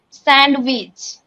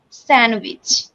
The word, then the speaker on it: sandwich: There I didn't pronunciate d, only I pronunciated handkerchief. Next, it's not a sandwich, it's a sandwich.